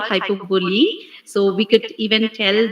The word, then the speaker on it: hyperbole: me she asked me what is the pronunciation of hypovolem uh what how do you pronounce it so when i told that it was hyperbolic she told man that's hyperbole please see that you use the right pronunciation and thanks to abhinayam